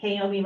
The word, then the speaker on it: Kaomi: So, and when I introduce myself, I tend to tell people that Kaomi rhymes with Naomi.